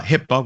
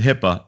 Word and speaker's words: HIPAA: our doctor's office that talk about Hippa uh Hippa which is spelled hi P AA is the health care